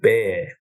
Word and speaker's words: bare: The second one, which is what most people do, is look to use something called a bear trust, and that's spelled B-A-R-E, bear.